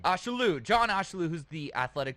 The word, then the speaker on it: Ashaolu: Rhymes with absolute. Ashaolu. Ashaolu.